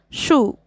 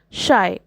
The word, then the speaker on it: Scheu: correctly Shai acknowledges that his name looks like it should be pronounced Shu which is a common mistake but emphasizes that it is actually pronounced shy the poem claverly uses